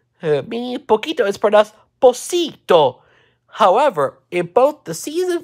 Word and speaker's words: Pocito: finally for the trivia in spanish when the c proceeds and e for and i it is pronounced and like an s mi poquito however in both the